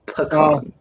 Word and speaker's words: pecan: Pecan.